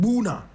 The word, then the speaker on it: Bouna: Now when you go to the Ivory Coast, there is a small town there called Bouna.